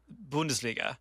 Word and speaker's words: Bundesliga: In the Bundesliga, Bayern Munich has The Bundesliga is you gotta pronounce it, man. Bundesliga. Bundesliga.